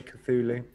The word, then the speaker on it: Cthulhu: was on there yeah thank you everyone for pronouncing it for me cthulhu i like the look of it i like